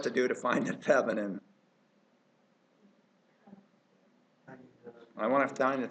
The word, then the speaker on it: Thevenin: The word I'm looking for starts with a T and rhymes with excedrin. Thevenin.